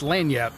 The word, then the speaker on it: lagniappe: It is called Lagniappe sauce, Lagniappe, but it's pronounced Lagniappe, Cajun term, I guess.